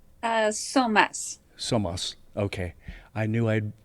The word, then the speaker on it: Psomas: Psomas.